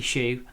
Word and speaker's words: Zhu: I think it's pronounced Shu, isn't it?